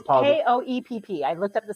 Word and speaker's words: Koepp: Koepp, I think is how you pronounce it. It's Koepp.